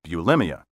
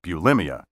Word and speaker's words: bulimia: the 14th century and until the 1980s the only pronunciation recognized by dictionaries was bulimia it may be disconcerting at first to be the only one in the neighborhood who says bulimia but i guarantee you'll get used to it you will also be right what you probably have